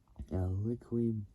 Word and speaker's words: Liqui: The 2014 liquid. I can't really pronounce it. It's like saying liquid, but taking out the D, and you get a liquid, like Liqui.